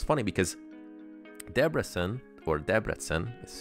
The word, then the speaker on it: Debrecen: So it's funny because Debrecen, is how you pronounce the Hungarian, this is a really famous